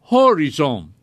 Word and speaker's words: horizon: but it is pronounced horizon-- with emphasis on the first syllable interesting why are these